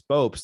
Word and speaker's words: Bopst: I think before we recorded, I was saying, you asked me how to pronounce my last name, and I said it's Bopst.